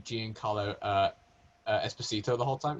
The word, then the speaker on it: Giancarlo: Is it not Giancarlo rather than Giancarlo? I think it is Giancarlo. It's not Giancarlo. No, it is, isn't it? Giancarlo. That's how it's spelled, but I believe it's pronounced Giancarlo. Giancarlo, yeah, Giancarlo.